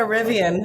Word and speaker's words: Rivian: I got a Rivian.